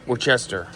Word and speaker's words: Worcestershire: I think it's called Worcester. Okay. Worcester.